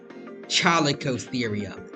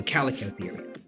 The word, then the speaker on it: Chalicotherium: Yeah, no, I've never seen anyone say Chalicotherium. The H is always treated as silent. Okay, so Calicotherium. Thank you.